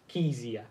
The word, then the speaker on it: Kezia: oh by the way my name is pronounced keysia easier sorry keys hi